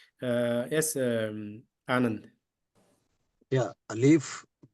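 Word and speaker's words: ألف: yes um an yeah alif g H yeah here it is alif there's no prolongation you have to limit it a l i f not a Lou E F that's only little bit correction the rest everything correct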